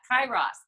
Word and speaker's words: Kairos: you talk a little something about something called Karros time am I saying that right I think it's actually I had to look up to pronounce pitch for that hi Ross time hi Ross I'm awesome so what does